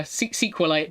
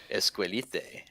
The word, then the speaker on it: SQLite: yeah, SQLite. People pronounce it as sequel.